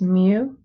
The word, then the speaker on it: mu: i'm going to write beneath it how to pronounce it that's mu and that is the letter that we use